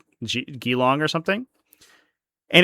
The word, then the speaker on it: Geelong: It's Geelong. It's Geelong. What the fuck? You put 2 E's next to a G. That's a G sound. That's a soft G.